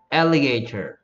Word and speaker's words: alligator: Tur인데, Tur를 미국 사람들은 Rur 이렇게 발음해보라. 그냥 쉽게 발음하려고, 힘 빼고. Tur, Rur. 이 모양은 똑같거든. Tur, Rur. Tur, Rur. Alligator. Alligator. Alligator. 이렇게 들려.